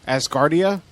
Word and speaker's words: Acrassicauda: All right, they're it's spelled ACRASSICAUDA. Yep. Asgardia.